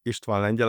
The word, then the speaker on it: Istvan Lengyel: So my name is Ishtan Angel as you correctly pronounce it.